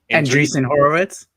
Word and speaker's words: Andreessen Horowitz: Andreessen Horowitz.